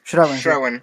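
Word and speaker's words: Schrauwen: Ayúdenme con la pronunciación. Schrauen.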